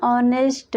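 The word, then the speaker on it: honest: का प्रयोग हुआ है एन ऑनेस्ट ऑनेस्ट वर्ड की शुरुआत कंसोनेंट लेटर एच से शुरू हुआ है जो कि एच यहां भी साइलेंट है ऑनेस्ट का उच्चारण करने पर बबल साउंड अ से शुरू हुआ है इसलिए ऑनेस्ट के आगे एन का प्रयोग हुआ है एन नरबल नरबल वर्ड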